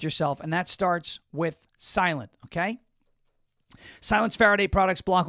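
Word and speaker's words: SLNT: Their their name is Silent.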